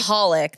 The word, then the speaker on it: Michalik: Maholic. The C silent. No one gets it right.